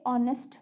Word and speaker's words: honest: But if I say if I say honest man, okay, so honest starts with honest, honest, but we pronounce it o sound comes, h is silent.